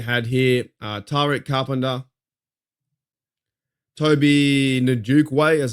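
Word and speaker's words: Onwukwe: You had here Tret Carpenter, Toby Nuke Way is how you pronounce that.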